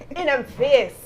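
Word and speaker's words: In'em Face: And that's spelled in, the I-N-M, apostrophe E-M, face. And if I could put my Jamaican patois on it, in them face.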